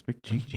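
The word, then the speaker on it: McG: those Charlie's Angels movies MC G is his name MC G I never heard anyone pronounce it it's MC know it's MC G MC G Rob Zombie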